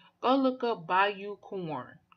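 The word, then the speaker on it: Bayou Corne: Go look up Bayou Corn. Corn is spelled Corne. Like Cornell without the L's.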